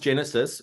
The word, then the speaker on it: Genasys: you Tony for having me it is actually pronounced Genesis and it originated for it was short for